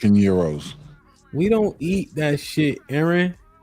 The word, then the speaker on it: gyro: ] every day though call it gyos that's not how you say it gyro that's what I I knew what he said if he saido wouldn't know what he was saying it is Euro I never had it